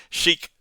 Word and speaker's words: sheik: to abjure to perjure Sheik does not sound like check but ache Liberty Library heave and